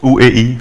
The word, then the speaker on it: OEI: Is that how you pronounce it? OEI.